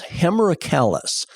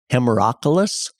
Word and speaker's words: Hemerocallis: The botanical genus of the daylilies is Hemerocallis. Sometimes I've heard that pronounced Hemerocallis.